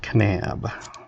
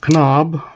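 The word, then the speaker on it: Kanab: Little town called Canab, spelled K A N A B. And it's not Canob or Canabi or Knob A, it's Canab. So, the nearest Walmart is an hour away.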